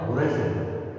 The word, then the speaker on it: horizon: सो थोड़ा सा प्रोनाउंसिएशन में ध्यान दें, यहाँ प्रोनाउंसिएशन आ जाएगा होराइजन, होरिजोन, होराइजन, HORI, होराइजन।